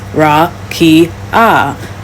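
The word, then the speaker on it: רקיע: In the Hebrew Old Testament, the word used for firmament is rakia, pronounced ra-ki-ah, meaning extended or solid surface or flat expanse, considered to be a hemisphere above the earth.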